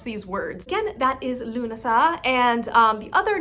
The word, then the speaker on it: Lughnasadh: So again, Lunasah, where the emphasis is really on that syllable.